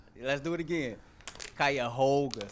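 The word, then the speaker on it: Cuyahoga: Good to see somebody here can pronounce it correctly. Let's do it again. Kaya Hoga.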